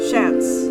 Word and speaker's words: Shans: She basically got her stuff from the house and is talking to Shans here, and it's Shans, like S-H, like chance, but Shans.